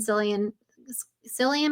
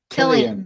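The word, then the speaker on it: Cillian: speculating could have been Silly Psyian Murphy, is that how you say his name? Killian. Killian Murphy.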